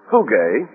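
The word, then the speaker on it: φυγή: that the Greek word for flight here is phuge. We would spell it I suppose, p h u g e.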